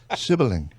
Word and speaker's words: Silberling: Silberling. Silberling, yeah. Silberling, like silver.